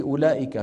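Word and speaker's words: أولئك: صفر مدور ما اولئك الواو في اولئك شو بنضع على الواو صفر مدور ها على ان هذه الواو لا تنطق ابدا ما حدا بيقول اولئك على هدى من ربهم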